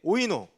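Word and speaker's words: οἶνος: 그럼 취하지 말라 그랬죠 뒤에 오이노 와인이랑 비슷하죠 발음이 와인 오이노 와인에 취하지 말라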